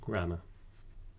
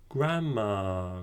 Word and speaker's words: grammar: n in grammar so the main difference is going to be that r sound at the end so it's the grammar